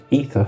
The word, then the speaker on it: Aether: Um this subclass is called the Aether ether specialist. The A is silent.